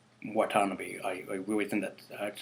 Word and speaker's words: Watanabe: Serizawa, who is played by Ken Watanabe. I really hope I said his last name right. Watanabe.